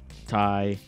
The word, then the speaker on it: Tai: to call me um tai i just you know as in tai gax which that's how you say my name most people do not